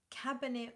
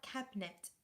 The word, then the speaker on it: Cabernet: very nice indeed Chrissy sounds more like cabinet when we say it okay so you just do two syllables regardless of the eye in the middle of it all cabinet cabinet cabinet I'm